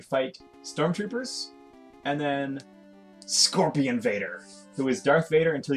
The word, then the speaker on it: Vader: said I am yeah vad means scorpion Vader scorpion Vader whoa oh come on what